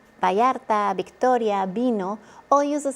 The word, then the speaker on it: Vallarta: 2 L's together make a Y sound. A perfect local example, Puerto Vallarta, not Vallarta, it's Vallarta.